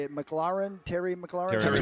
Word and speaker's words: McLaurin: Terry McLaurin? Terry McLaurin, yeah.